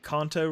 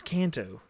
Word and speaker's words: Kanto: Um I at one point I said KTO region and I was like it's Kanto Kanto region because I was talking about Pokemon KTO.